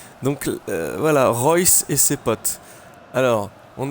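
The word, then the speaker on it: Reus: pour te dire que j'ai bien appris à prononcer Marco ryce et non pas la mauvaise présentation prononciation que j'avais fait dans le dernier match donc voilà Royce et ses potes alors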